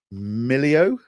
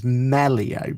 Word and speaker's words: Melio: sure I bring bring this up so I pronounce this properly. Millio. I thought it was Melio, but I I'm terrible at this, right?